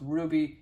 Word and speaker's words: RWBY: He would have been initials pronounced Ruby.